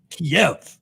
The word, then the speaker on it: Kiev: It's two syllables. Right. Kiev, if you're Russian, but if you're Ukrainian, Kyiv.